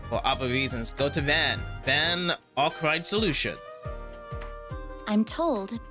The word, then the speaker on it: Van: Van Arkwright. The name's Van. Van Arkwright. At least the pronunciation for Van is always gonna be as what it says on the screen. No apostrophes, just straight up Van.